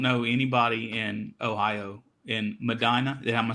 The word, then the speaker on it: Medina: i i don't know anybody in ohio in medina am i saying it right yes madonna yes yes i knew that was right i